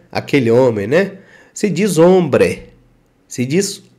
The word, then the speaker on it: hombre: diz homem né aquele homem né se diz hombre se disso hombre Então você esquece a partir de agora você